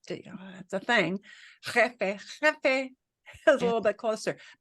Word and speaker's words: jefe: I mean, well, you know, when you say boss in Spanish, am I saying it right? Jefe? Jefe. Sí, jefe.